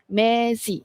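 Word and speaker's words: mesi: Okey mezi bukan Messi.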